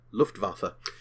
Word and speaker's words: Luftwaffe: here firstly the German Luftwaffe firstly it's pronounced with a V in regards to the W not waffa waffa Luftwaffe secondly by that point